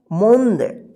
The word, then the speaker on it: मोंद: म में बड़ी उ की मात्रा मो और यहाँ पे चंद्र बिंदु, फिर यहाँ पे द, तो यहाँ पे आधा न के रूप में उच्चारण हो रहा है मोंद, ठीक।